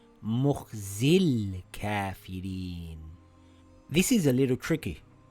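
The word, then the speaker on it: مُخْزِى ٱلْكَـٰفِرِينَ: Now we see the lam has a sukoon and before it there is a long vowel. We drop the long vowel. Now we read it together as Mukhzil Kafirin.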